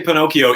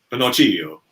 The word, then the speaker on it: Pinocchio: How do you say Pinocchio in proper Italian? That's what I would like. Pinocchio.